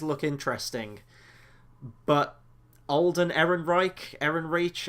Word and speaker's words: Ehrenreich: interesting but Alden Ehrenreich Eren reach I don't really know how to pronounce I think it's Ehrenreich I think it sounds very German I haven't seen him